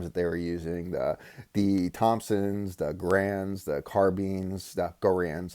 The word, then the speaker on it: Garand: using, the Thompsons, the Garands, the carbines, the Garands, I'll say it right, Garand, right?